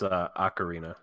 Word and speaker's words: ocarina: I I feel like you're saying it wrong wrong its ocarina so I sent Rob